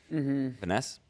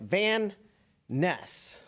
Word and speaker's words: Van Ness: Vanessa? He used to say Vaness, then somebody must have told him because now he's very distinctive, like Van Ness.